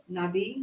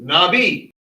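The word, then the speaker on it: נביא: Spell it out. N Yeah. Nabi. Yes. Thank you. Nabi cuz the olive is silent in this word.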